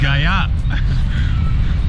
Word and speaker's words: Gaya: I am not able to pronounce the name of this city properly, as they say, which is Gaya.